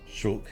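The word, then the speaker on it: Shulk: boys trust the way heul shul it's closer to the Japanese pronunciation the investure ceremony must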